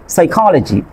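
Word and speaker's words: psychology: এখানে খেয়াল করেন সাইকোলজি, সাইকোলজি ফি এর পরে এস আছে, তারপর দেখেন থ্রোড্যাকটিল, ফি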